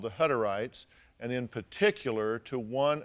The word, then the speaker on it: Hutterites: The Hutterites, is that how you pronounce it?